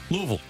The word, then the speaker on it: Louisville: Okay, to make sure to help you with the true Southern draw, it needs to be if it's spelled at the end V-I-L-L-E, then it's Vol.